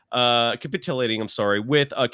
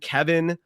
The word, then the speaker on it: Kevon: I'm hearing Kevin. Scott Van Pelt, I love him. I would think he would know how to pronounce Kevon Looney's name by now. So come on, get it right. Get it right, gentlemen.